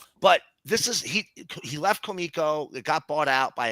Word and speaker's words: Comico: It was his big run from Comico, and that's the way it's pronounced.